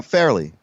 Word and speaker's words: Farrelly: Yeah, Fairly.